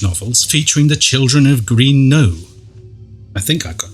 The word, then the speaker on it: Green Knowe: for her children's novels featuring the children of Green Knowe. I think I pronounced that correctly. Yeah. Green Knowe, yes.